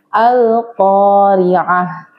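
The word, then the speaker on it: القارعة: Contohnya pada lafaz al-qari'atu dibacanya al-qari'ah.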